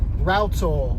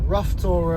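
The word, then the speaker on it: Rough Tor: But a friend of mine uh pointed out that it's actually pronounced routtor, a bit like a router, you know, the uh tool that you use for carpentry, router.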